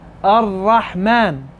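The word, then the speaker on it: الرحمن: I'm not pronouncing it. I'm saying Ar-Rahman.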